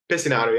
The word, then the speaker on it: Pesinato: I should have asked you, am I pronouncing your last name right? Pesinato, yeah.